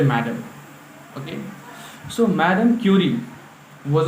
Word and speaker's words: Madame: The chapter is Madame Curie, or we say Madame Curie, because the word Madame is pronunciated Madame in France, and she was from France.